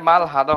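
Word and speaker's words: 말하다: যদি এটা মারাদা হইতো তাহলে ওরা মাল হে বলতো না, মারে বলতো। তো আমার মনে হয় এটা মাল হাদা হবে উচ্চারণটা। আচ্ছা তারপর।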